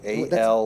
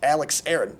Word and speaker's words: Alex Aaron: All right, it's Alex Aaron, A-L-E-X-A-A-R-O-N. That's what I said, Alex. Alex Aaron.